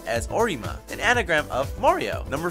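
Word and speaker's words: オリマー: Olimar's Japanese name is pronounced and spelled as Orima, an anagram of Mario.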